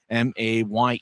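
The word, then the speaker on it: Mayer: M A Y E R his last name but the pronunciation guide says May as Grizzlies get it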